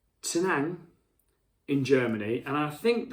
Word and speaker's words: Tettnang: They also get their hops from, and I think it's Tenang in Germany, and I think that like it's spelled, I think it's Tettnang.